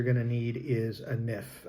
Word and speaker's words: NIF: The first thing you're going to need is a NIF, or NIF, as it's pronounced here, your tax ID number, your personal tax ID number, to be able to get the ball rolling.